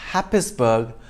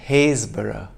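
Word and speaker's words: Happisburgh: well but subtle four it's not happensberg but haysborough five it's not ruislip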